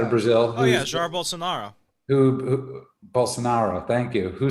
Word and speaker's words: Bolsonaro: is uh bamboy check how do you pronounce his name bolosnaros um bolsonaro thank you ben boyce